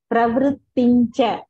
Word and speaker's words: प्रवृत्तिश्च: So Brutu, Pravru, that please avoid that full ru pronouncing. In wherever the shloka, the ru pronunciation is coming, please pronounce Pravrutincha, not Pravrutincha. So ru not to come, vru, only vru.